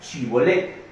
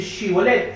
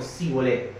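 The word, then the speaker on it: Shibolet: La palabra era chibolet. Ellos en su dialecto, en la forma de hablar del efranita, no era capaz de decir chivolet, sino cibolet.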